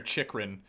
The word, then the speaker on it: Chychrun: All right, I don't know if it's Chychrun or Chychrun, but I've heard it pronounced both ways. I'm gonna say Chychrun for now because there is, you know, a double CH there. So why would one be, you know, unless the H is silent?